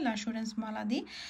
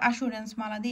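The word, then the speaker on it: l'Assurance Maladie: প্রথমেই উপরে আপনারা দেখতে পাচ্ছেন এই কোম্পানিটার নাম হচ্ছে লাসুরেন্স মালাদি বা আসুরেন্স মালাদি। এখানে ফ্রান্সে উচ্চারণ একটু ভিন্ন, কারণ লেখা থাকে একরকম উচ্চারণ করতে হয় অন্যরকম, তাই আমি দুভাবে উচ্চারণ করে দেখালাম।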